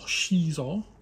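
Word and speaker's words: Xizor: We have a Prince Zizor, or Shizor, as some pronounce him.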